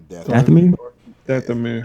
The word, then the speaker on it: Dathomir: Dathomir.